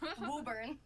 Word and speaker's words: Woburn: about 10 minutes north which is Cambridge where Woburn Woburn Woburn okay okay yeah I went to college of Boston so that's why really yeah you never heard of Woburn we pronounce it as Woburn but okay okay so 27 Boston what do